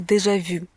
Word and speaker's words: déjà vu: Дальше такое слово, как «déjà vu». Даже в русском языке оно есть, я думаю, многие знают, что оно значит. Американцы произносят немножечко исковерканно, они произносят «déjà vu». Не «vu», а «vous». Déjà vu.